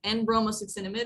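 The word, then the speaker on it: N-bromosuccinimide: NBS it's kind of a long name but en bromos suid is how you say it um so for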